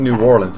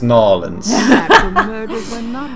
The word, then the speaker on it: New Orleans: fun no or mispronouncing it's not New Orleans it's nollans it's being voiced by